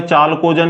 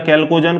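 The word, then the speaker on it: chalcogen: दूसरी अगर मैं बात बताऊं आपको, वर्ग संख्या 16, तो इसको क्या बोला था आपने, चालकोजन या कैल्कोजन, कुछ भी बोल सकते हो, स्पेलिंग CH है।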